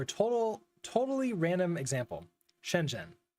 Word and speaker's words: Shenzhen: total totally random example Shenzhen how do you say it what is the zh doing in there can you just ignore the H spoiler warning you can't uh is its own sound in Chinese we don't have time